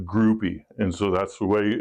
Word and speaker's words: Grupe: But historically, locally, it's always pronounced Groupie.